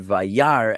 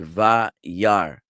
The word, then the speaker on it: וירא: number 1, I believe, the aleph is a silent letter. It has no sound. So unless it carries a vowel, there is no sound to be made. So you're looking at this word Vayar, and you're only hearing